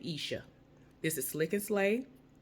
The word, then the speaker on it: Esha: but I think that you pronounce her name Isha if I'm mispronouncing it